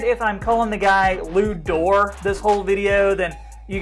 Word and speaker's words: Dort: that lou's name is actually pronounced door because he's french canadian but i figured if i'm calling the guy lou door this whole video then